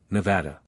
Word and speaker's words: Nevada: No, I said, and I used the English pronunciation, Nevada.